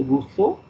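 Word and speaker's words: Rousseau: d e r and Russo r o uou s e Au U it's pronounced in the French way the E is u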